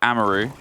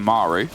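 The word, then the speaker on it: Amaru: it was on twitter people were asking why do they pronounce it amaroo because a lot of people pronounce it maru yeah um and i think technically either is fine but we wanted to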